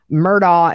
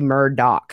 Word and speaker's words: Murdaugh: but I'm gonna say murder doc because that's how Alec pronounces his last name he says it's an honor to represent Alec Murdock what you heard from